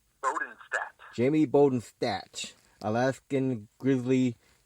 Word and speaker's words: Bodenstadt: Jamie how do you say your last name Bowden stat Jamie Bowden stat Alaskan Grizzly F altered so